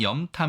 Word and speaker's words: 염탐: 이 단어 의 발음 은 " 염탐 "( 간첩 행위 / 첩보 활동 ) 입니다 .